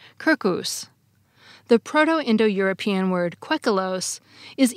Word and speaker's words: circus: In Latin, it shows up as circus, or as it would have been pronounced in classical Latin, circus.